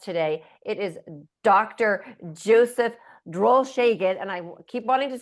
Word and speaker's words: Drolshagen: Joseph Droll Shagen, and I keep wanting to say it the German way because I pronounce it so many times.